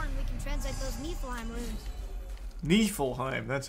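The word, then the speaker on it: Niflheim: more one more and we can translate those knee full heim that's how you say it cool cool cool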